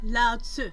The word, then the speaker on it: Lao Tzu: Lao Tzu.